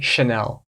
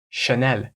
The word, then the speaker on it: Chanel: clothing and it's Chanel so in America we say Chanel and in France it's not that much different Chanel Chanel very quick Chanel and this brand was